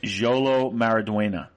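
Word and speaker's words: Xolo Maridueña: get out like i think um the actor jolo maraduena um really brings it this season um as as an actor and please can you please repeat that name yolo maradoena that's how you pronounce i really want to i wish we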